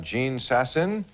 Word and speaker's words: Jean Sasson: Right over here we have Jean Sasson.